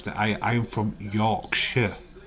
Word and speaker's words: Yorkshire: We don't pronounce that. I am from Yorkshire, not Yorkshire.